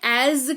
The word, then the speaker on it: as: जैसा या जैसे इस्तेमाल करते हैं एज का। एस यहां पर भी लगा हुआ है लेकिन उच्चारण इसका ज ही होता है, एज।